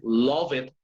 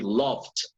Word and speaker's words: loved: You don't say love it, you say loved.